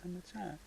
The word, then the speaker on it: ธรรมชาติ: Hamasat, how do you say? natural Yeah. You like? ชอบ natural How do you say? ธรรมชาติ Yeah, Hamasat.